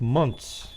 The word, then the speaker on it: months: hear how he said months okay just like i say m-u-n-t-s okay there's no t-h pronunciation all right it's months yeah i think you're um